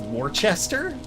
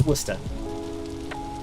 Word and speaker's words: Worcester: what it sounds like they wanted you to pronounce worcester as warchester that's just wrong i mean definitely it's worcester same as gloucester actually i mean it's basically the same the same suffix pronounced the same way oh god the worst